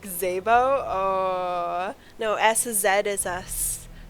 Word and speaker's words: Szabo: Like Szabo?